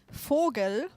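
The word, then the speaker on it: vogel: just think it's because for us the V is pronounced like an F I think the the best word to is a bird it's called Fogel obviously an F but you write it with a V yeah we say forel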